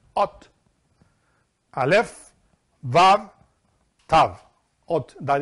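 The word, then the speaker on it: אות: This is how you pronounce Ot.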